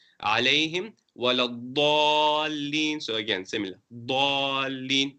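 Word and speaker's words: الضالين: Dallin, not zallin or dhallin.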